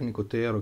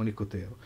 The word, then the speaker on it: Nicotero: greg nicotero greg nicotero chiamiamo battezziamo una un accento diciamo unico tiro anche perché non so suppongo che gli americani lo chiamano così si fosse più facile che gli americani mettono l'accento in fondo diciamo nicotero diciamo nicotero che famoso artista e